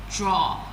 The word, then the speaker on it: drawer: You call it drawer, but it's pronounced as draw.